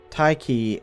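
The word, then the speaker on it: Tiche: in the next chapter taiki is a letter swap spelling of an ancient Greek word that represents the Greek deity of Fortune which is why I'm pronouncing it that way by the way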